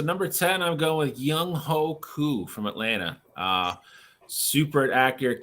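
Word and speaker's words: Younghoe: So number 10, I'm going with Young Ho Koo from Atlanta. Super accurate kicker. I love how we never pronounce his name right. It's Young Wei. Right. It is Young Wei for sure.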